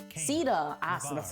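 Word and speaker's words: Caeda: Heroes such as Ceeda, Ceeda? Ah, so that's how you pronounce it.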